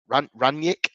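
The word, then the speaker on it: Rangnick: massively lacking in confidence ragnik ranyik is how you pronounce it sorry um he's you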